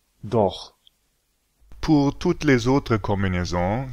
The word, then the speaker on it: doch: Une prononciation qui vient après A, O, U, AO se prononce R. C'est un bruit de gauche. Par exemple, Ach. Auch. Doch.